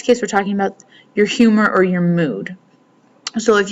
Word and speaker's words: humor: Here we have de buen humor, and we know the H is silent, so we would never say humor. De buen humor and de mal humor.